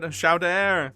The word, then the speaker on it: Chowder: It's pronounced Chowder. Chowder. It's called Chowder. Say it right, Frenchie.